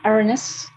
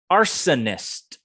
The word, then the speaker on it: arsonist: the word first and remember it's three syllables arsonist arsonist and make sure